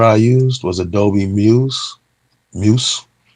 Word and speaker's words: Muse: used was adobe muse muse is how you say it m-u-s-e yeah i have the